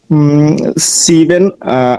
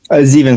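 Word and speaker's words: sieben: দেখা যাচ্ছে না 37 37 ওকে শেষ ওকে সিভেন সিভেন উন্ন হবে এস এস এস এর উচ্চারণটা কি হবে জিভেন সরি জিভেন জিভেন জিভেন উন্ন ড্রাইসিস ড্রাইসিস বানানটা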